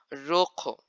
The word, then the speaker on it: rojo: When it's written double R in Spanish, or the R is in the beginning of the word, you have to roll your tongue and pronounce it as double R.